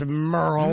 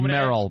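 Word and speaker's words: Merle: There is no way this is Merrill because it's M E R L E.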